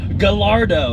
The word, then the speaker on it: Gallardo: can't even pronounce it it's Gallardo it's like snacker lardo house also superleggera that